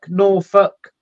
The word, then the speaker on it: Norfolk: We pronounce it Suffolk, Norfolk.